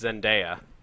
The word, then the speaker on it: Zendaya: The But- chat wants you to know that it's Zendaya.